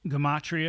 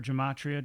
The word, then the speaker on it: gematria: You have gematria or gematria, depending on how you want to pronounce it.